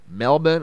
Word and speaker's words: Melbourne: the melbourne australia area i think that's pronounced melbourne i think the the r is silent anyway it was in